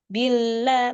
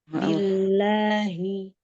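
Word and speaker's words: بِاللّٰهِ: Billah. Bukan. Billahi. Auzubillahi. Jangan billah gitu. Auzubillahiminasyaitanirrajim.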